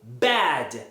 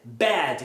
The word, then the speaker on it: bad: Então, para essa categoria aqui, você vai usar a palavra, você vai pronunciar a palavra abrindo sua boca verticalmente.